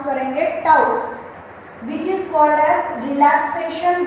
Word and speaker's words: tau: ये नया रिप्रेजेंटेशन है tau, ये जो सिंबल है इसे हम प्रोनाउंस करेंगे tau, which is called age relaxation time.